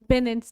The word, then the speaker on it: benign: Okay, so the next word we have here is benign, and it is pronounced as benign. G यहाँ पे ना silent होता है, and it comes from the root word bene.